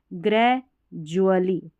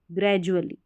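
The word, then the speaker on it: gradually: जल तो यहां पर दोनों ही पैटर्न में डी का जो साउंड है वह ज करके आ रहा है फिर यह वरचुअल करके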